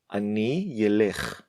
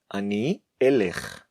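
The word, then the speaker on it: אני אלך: masculine or feminine form, we never say Ani Yelekh, Ani Yeshev, Ani Yedaber. We do say Ani Elech, Ani Eshev, Ani Adaber. Respect the letter Aleph and pronounce it correctly.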